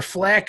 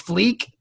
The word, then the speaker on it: fleek: there's a flea Corps flak or how do you say it I don't know cuz I've never it's fleek yeah I was thought it was flag I don't think they